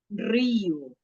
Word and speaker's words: río: Rosa, rosa, Río. Rio. Río. río, Isso. río. Están viendo que es la misma palabra, es el mismo significado, só que a pronuncia es diferente porque você tem que pronunciar la R.